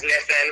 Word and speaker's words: Nitin: I'm walking outside, but yeah, my name is Nitin, pronounced like Nathan with eyes, Nitin.